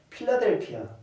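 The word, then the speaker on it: Philadelphia: 필라델비아 교회가 있는 도시가 어디일까요? 당연히 필라델비아. 영어식으로 발음하면 필라델피아.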